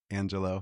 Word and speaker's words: Angelo: world of Peter Angelo, pronouncing it correctly, right? Angelo. Yeah. Yep.